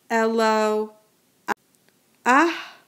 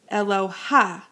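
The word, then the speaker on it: אלוה: In the word here, elo, ah, you pronounce the vowel first, the patach first, and the mapike second. With patach genuva, you always pronounce the patach before the vowel. So no ach, elo, ah. Please be careful not to say eloha, because aloha is for Hawaii.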